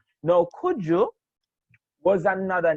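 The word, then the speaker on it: Cudjoe: Now, Kuju was another name of a, Isn't it Kojo? yeah, it is pronounced Kuju or Kojo, right?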